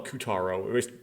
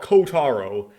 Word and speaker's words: Kotaro: up um C kotaro I always like to call him koutaro sorry Oshi for pronouncing your name wrong kotar kotaro uchikoshi worked on ayaka's